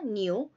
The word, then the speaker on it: knew: Here K is silent, children. We pronounce it as new.